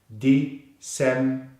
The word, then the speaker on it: December: So together we have December, December. Remember the stress is on the second syllable. December, December, December.